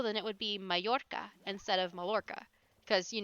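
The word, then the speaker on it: Mallorca: it would would be mayorca instead of Mala cuz you know Double L in Spanish tends to be pronounced as a y like G anyway we're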